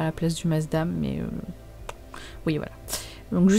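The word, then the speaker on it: Maasdam: Parce qu'il y a une version avec le gouda à la place du masdam, mais...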